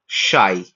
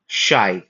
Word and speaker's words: xi: ये है कैपिटल शाई या फिर शी। बहुत सारे लोग इसको शी कहेंगे। जैसे Xiaomi है ना फोन का ब्रांड सुने हैं Xiaomi तो उसमें जो शी है वो बेसिकली ये है।